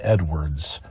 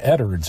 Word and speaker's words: Edwards: pulled the story of Lum Edwards or Eddard's as he pronounced it and Abner Peabody the